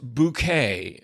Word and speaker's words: Bucket: is about it's about highin bucket pronounced bouquet but spelled bu u c k ET which is of course